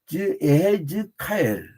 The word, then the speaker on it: 에스겔: 이게 에스겔이라는 이름은 처음에, 그러니까 이게 발음이 조금 달라요. 내가 아예 키브를 정확히 써드릴게요. 왜냐하면 이 목사님들 장님들급 이상 부르는 분들도 꽤 돼가지고 이게 요드하고 그다음에 쉐바 이해라고 그래요. 예. 그다음에 해. 그다음에 지죠. 이거는 단문 뒤니까 지 그리고 카 한 다음에 그 다음에 뒤에 L 붙여요. 알렙하고 그 다음에 이제 라멕 이렇게 L. 이제 여기서요 그러니까 에헤제카엘 이렇게 발음을. 근데 이게 한국식 발음으로 그냥 에스겔로 한 건데 에헤즈카엘.